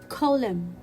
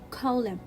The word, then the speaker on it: column: m so i will see it as a silent letter it will be column again column so let's read these three words again with silent letter m damn autumn column still we are with silent letters and now